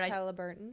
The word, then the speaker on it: Haliburton: Haliburton.